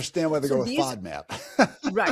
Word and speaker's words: FODMAP: So, kind of and it's literally called a I FODMAP.